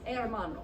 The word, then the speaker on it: hermano: love at Amana and the thing to remember when pronouncing that is that H it's not a hair model okay it's hermano so it's kind of